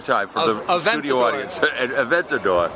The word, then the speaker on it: Aventador: It's the Adventador. Say it one more time for the studio audience. Aventador.